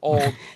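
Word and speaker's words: Auld: the song it's it's the first word is a-u-l-d which is hilarious because that's also american ultimate disc league but it's pronounced old and the first choice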